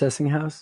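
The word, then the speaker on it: Sessinghaus: Apparently Sessinghouse, it's pronounced Sessinghouse? Yes.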